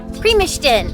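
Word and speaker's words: Primošten: about one mile to premies primastin primistin that's how you say it we love walking about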